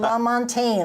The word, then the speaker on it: Lamontagne: and enter Eric everything la montagne I said it right you did I wrote it out